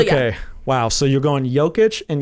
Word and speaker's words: Jokic: So you're going Jokic and Giannis. Yep. The soft J and the soft G.